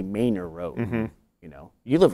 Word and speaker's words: Manor: are on them no a lot of just pronounced incorrectly like the word m a n o r is a word it says Manor that's how you say it we don't say Manor Road we say Mayor Road you know you live right by Mayor